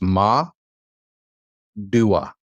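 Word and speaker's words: מדוע: So this is let your syllable break be right here. So it's ma, dua. Dua. Madua.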